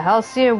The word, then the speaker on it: Halcyon: No, Netherling chases the cruel Vundu from Neverreap, returns Is it Halcyon? Yeah, Halcyon wins to our sacred land. I had to like think of like, okay, it's the album by Ellie Goulding.